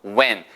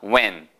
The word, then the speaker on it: when: 제일 중요한 단어 when, H가 묵음이더라. when.